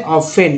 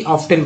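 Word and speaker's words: often: हो जाएगा, जैसे कि टी के पहले एफ आ गया तो टी साइलेंट हो गया, क्या पढ़ेंगे इसे, ऑफेन ना कि ऑफ्टन पढ़ेंगे।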